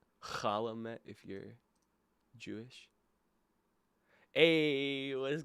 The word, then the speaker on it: Chalamet: Chalamet, Chalamet, Chalamet if you're Jewish.